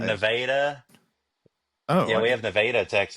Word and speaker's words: Nevada: oh yeah we have nadaa text it's spelled the same way Nevada is but yeah we have nadaa Texas it's not too far